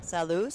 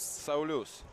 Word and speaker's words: Saulius: Salus? Saulius.